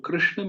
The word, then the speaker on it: कृष्ण: तो तो जो री है, जो कृष्ण में री है, उसका उच्चारण होता है जब हमारी जीभ का जो कि जो टिप है, जो अग्रभाग है, जीभ का जो बिल्कुल आखिरी जो हिस्सा होता है, फ्रंट वाला, वो जब मूर्धा पे स्पर्श होता है, ऊपर